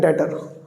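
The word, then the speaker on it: debtor: लेकिन अगर नाम नहीं पता सर तो उसको बोलते हैं डेटर। डेटर। बी साइलेंट रहेगा बी डेटर अकाउंट डेबिट समझ रहे हो डेटर जिससे मुझे पैसे लेने हैं वो डेबिट हो जाएगा।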